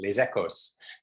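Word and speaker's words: Les Echos: ecco or les ecco les ecos i have the south accent i pronounce the final s lesekos and um which is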